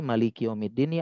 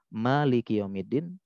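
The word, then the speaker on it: مالك يوم الدين: ada yang pendek jadi Malikiyaumiddin ya ada dua cara baca Malikiyaumiddin yang kedua Malikiyaumiddin satunya panjang nanya satunya pendek dua-duanya Boleh Memang ada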